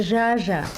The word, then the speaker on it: Zsa Zsa: Vous savez, mon nom, c'est pas Zaza, c'est Jaja.